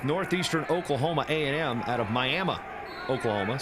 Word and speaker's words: Miami: Oklahoma A&M out of miam Oklahoma spelled like Miami pronounced like miam the golden Norman the